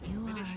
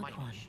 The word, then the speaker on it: Minish: Minish, not Minish. Minish as in diminished.